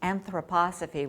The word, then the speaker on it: anthroposophy: And based on this philosophy I couldn't even pronounce, which I now know is pronounced anthroposophy, which was Rudolf Steiner's worldview.